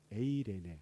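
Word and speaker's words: εἰρήνη: 이 평안을 우리 헬라어로 이제 에이레네라고 그러죠. 에이레네. 발음이 에이레네.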